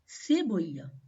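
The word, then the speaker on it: cebolla: onion onion is called seya seya means onion so here you can see letter C is coming before letter e so the sound of this combination is c seya seya means onion now the sound of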